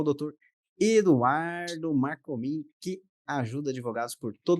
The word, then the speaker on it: Marcomin: Pronunciei seu sobrenome corretamente, é Marcomin mesmo?